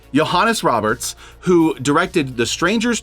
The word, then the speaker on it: Johannes: second segment suicide by Joanne Roberts I might have mispronounced the name it's like Johannes or something like that yeah Johannes yes okay Johannes Roberts who directed The